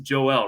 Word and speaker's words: Joel: it's like i wanna make sure it's joe like if i'm going on a broadcast and i'm gonna say his name i'm double checking like all right i'm making sure it's joelle right and like even people